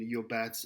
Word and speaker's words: Llobet: He talks about Segovia's guitars and Yobat's guitars here, Llobet is spelled Llobet.